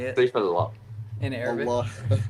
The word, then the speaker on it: Allah: Allah. Allah. Allah. It sounds Saifullah. powerful. Allah. It sounds Saifullah. powerful. Doesn't it sound powerful, Kurt? Dude, it sounds sick. Like Allah.